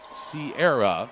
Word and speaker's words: Sierra: Norma says Sierra Parchment, pronounce Sierra. Okay, that's how I've been saying it. And then parchment like paper above, somebody says.